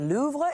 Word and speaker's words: Louvre: crown jewels from the Louvre in October had many people mispronouncing the name of the world's most visited museum. Babel says the correct pronunciation is louv with a soft very soft pronunciation of R.